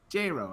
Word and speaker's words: J-Ro: How do you say it? J-Ro. That's how you say the name.